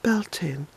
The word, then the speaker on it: Bealtaine: May so you have B Altoona which is about be e al t a ine some people pronounce it Belton and that's alright principe different way you